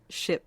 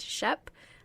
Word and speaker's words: SHPE: so like I said ship stands for a society of Hispanic Professional Engineers if you're from the East Coast you might hear it pronounced Shep I don't think that's right I don't think that's